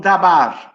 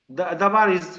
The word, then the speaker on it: dabar: but is the other word which is called dabar. Nah, di dalam bahasa Ibrani tidak ada kata logos, tetapi ada kata yang lain, yaitu kata dabar. How is dabar you break down dabar? Dabar is called dabar.